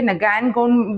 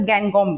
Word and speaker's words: Ngangom: तो पहले ही मैं कह देती हूँ कि प्रोनाउंसिएशन इसकी दो तरीके से हो सकती है, नगैनगॉम भी बोल सकते हैं या फिर गैंगकॉम भी। अक्सर इन्हें गैंगकॉम कहा जाता है, रॉबिन एस गैंगकॉम।